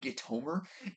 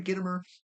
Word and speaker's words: Gitomer: But for the longest time, like if somebody were to ask me how to pronounce his name, I definitely would have said Gitomer, and that's not how you say it. So it's Jeffrey Gitomer.